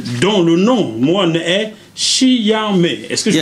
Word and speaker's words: Shi Yan Mai: Allez voir Jackie Chan, allez voir Gérard Depardieu, allez voir Dominique Satnan, dont le nom, moi, est Chiame. Est-ce que je prononce bien? Chiame.